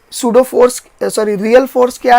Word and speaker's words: pseudo: you know real और सुडो forces याद रखिए सुडो में पी साइलेंट होता है ठीक है तो क्वेश्चन